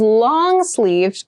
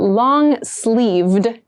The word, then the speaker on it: long-sleeved: Something that is long-sleeved goes until the wrist. This is what we consider long. And make sure you clearly pronounce that D sound at the end. So not long sleeve, but long-sleeved shirt.